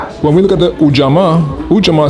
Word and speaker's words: Ujamaa: And Ujama is spelled Ujamaa. Let me hear you say Ujama. Ujama.